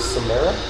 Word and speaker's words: Samara: the 7th Cavalry Division of Samara.